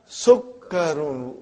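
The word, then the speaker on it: سُكَّرٌ: Hada Sukkarun. Look at the Shadda on Kaf.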